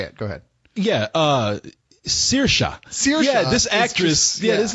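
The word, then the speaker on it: Saoirse Ronan: yeah her name is CA Ronin I I I'm assuming it's Celtic or something it is she's she's Irish cuz their pronunciations are very strange I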